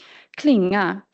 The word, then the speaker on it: klinga: Klinga carries accent 1, and femton carries accent 1. In klinga, the second syllable carries the highest pitch in the word, but in femton, the first one does.